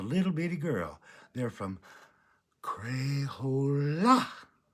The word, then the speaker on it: Crayola: They're from Crayola. That's how you say it. You have to put the la in there. Crayola.